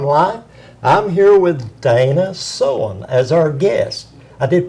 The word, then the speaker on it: Soehn: on Mountain phone line I'm here with Dana so on as our guest I did pronounce that right correct you did great Dana